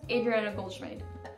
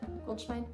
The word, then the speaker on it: Adriano Goldschmidt: I looked up how to pronounce the brand or the name, and I think it's Adriano Goldschmidt. Goldschmidt? Something like that.